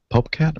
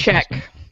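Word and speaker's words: Popcak: Greg Popcat or Popcat? Popcat? How do you pronounce it? Popchak.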